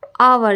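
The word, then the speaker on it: hour: होगी लेकिन अभी देखिए आवर इसको क्या पढ़ते आवर क्योंकि एच साइलेंट हो जाता है आवर तो क्या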